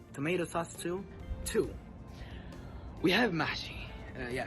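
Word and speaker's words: محشي: We have mahshi. Yeah, it's pronounced like this.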